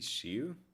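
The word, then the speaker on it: しゅ: It's pronounced shu. I'll think about the whole Japanese thing about how I couldn't incorporate SEO is an as an abbreviation for suck it up. I'm just reading the hiragana the she and it's she you know the hold on how do I change to Japanese on my PC? See? Yeah. That that and that's pronounced as shu.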